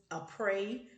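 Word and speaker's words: Aprés: a prey nail and in the beginning i couldn't pronounce that but it is a prey nail and it's spelled a-p-r-e-s they also have some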